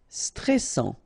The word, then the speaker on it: stressant: Stressant, okay, final T not pronounced, and then A-N-N, stressant.